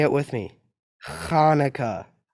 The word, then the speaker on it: Hanukkah: say it with me Hanukkah actually both Hanukkah and Hanukkah are right the holiday's name is Hebrew so there are different ways to spell it and say it in English thanks applesauce says Lucy